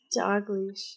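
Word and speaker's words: Dalglish: Dogleash, okay. Fitting for a noose maker. Right. It's not spelled like Dogleash, it's Dalgleash. No, it's Dogleash. But yeah, it sounds like Dogleash.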